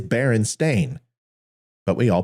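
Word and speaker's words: Berenstain: family name as a barenstein but it's actually not it's barenstein b e r n s a i n and it may sound like barenstein bears but it is Baron stain but we all pronounce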